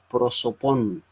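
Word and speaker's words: πρόσωπον: La palabra usualmente traducida como persona es la palabra griega prosopon. Así se pronuncia esta palabra en griego.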